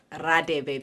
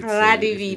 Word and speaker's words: Radebe: It's Radebe because there is no H there.